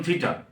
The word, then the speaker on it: থিটা: তার প্রথম যেটা হচ্ছে থিটা, চিহ্নটি এইরকম, মাঝখানে না, মাথার দিকে এরকম একটু পেঁচানো থাকবে, যাকে বলা হয় থিটা, উচ্চারণ থিটা।